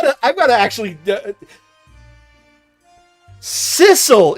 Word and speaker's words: Cecil: I've got to I've got to actually Sisle is a cat, not Ceil. Yeah, but similar pronunciation.